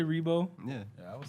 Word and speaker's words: Riebow: our first try really everybody usually call me like ribo we always say rebo yeah yeah i would